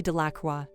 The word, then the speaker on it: Delacroix: harry jones and dicky delacroix the villagers pronounced this name de la croix eventually made a great